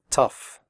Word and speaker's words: tough: pronounce the word correctly the oh ugh in tough is pronounced off like in stuff tough recipe if you have